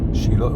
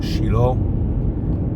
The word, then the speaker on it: Shiloh: Shiloh, we say in Hebrew Shiloh. In English, many pronounce the name Shiloh, which is the biblical